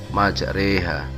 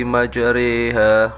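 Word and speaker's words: مَجْرٜىٰهَا: Pada pertengahan ayat tersebut terdapat lafal majroha yang dibaca imalah menjadi majreha. Wa qala irkabu fiha bismillahi majreha wa mursaha inna rabbi laghafurur rahim.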